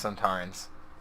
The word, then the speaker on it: Sontarans: Sonatarans. No, it's Sontarans. Well, did he spell it wrong, or is it really that many syllables?